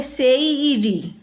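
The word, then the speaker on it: seiri: है ना पहला है एस ई आई आर आई इसको पूरा कहते हैं सेरी सेरी मतलब होता है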